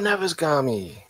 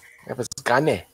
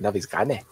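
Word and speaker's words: Navezgane: Oh, Navasgami. Navisgane. That's how you say it. Navisgane.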